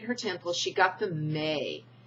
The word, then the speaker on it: me: She got the May, the M-E, and it's pronounced May articles, and dressed herself in them.